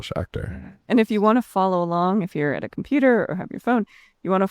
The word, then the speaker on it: Schachter: Schachter. Mm-hmm. But not, as he says, not like Star Trek.